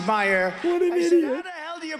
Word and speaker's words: Meijer: who spells his name m-e-i-j-e-r but they pronounce it Meyer the hell kind of his spelling is that it's Meijer but it's actually pronounced Meyer who the hell do you pronounce this guy's